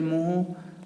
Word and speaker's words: mho: The unit of G is ohm inverse, और the symbol of ओम is inverse, और इसको spelling हम उल्टी कर देते हैं MHO, दैट इज मोहो.